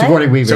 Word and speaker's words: Sigourney Weaver: And the larger picture is they're all going to die because Signori, how do you say her name? Aliens lady. The what? Sigourney Weaver.